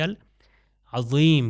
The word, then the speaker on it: العظیم: وہ ذات سبحان ربی العظیم کی عظمت والا. مگر اگر زے سے تلفظ غلط کر دیا جائے تو مطلب اس کا چینج ہو جاتا ہے.